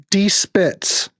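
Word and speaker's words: Die Spitz: It's D. Spitz. This Spitz. German. It is German.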